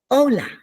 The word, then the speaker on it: hola: the vowel sounds so Ola is spelled h o l a that silent h is at the beginning good morning is Buenos